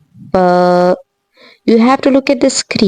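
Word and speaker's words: ف: And when you pronounce the letter fa, so you focus on this thing that when you're pronouncing it and you are placing your upper front teeth lightly on the lower lip, then there will be a little bit air will come out from it.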